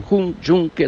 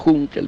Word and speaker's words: Juncker: Se reúne ni más ni menos que con Juncker, le pronuncian algunos, Juncker dicen otros, el responsable de esta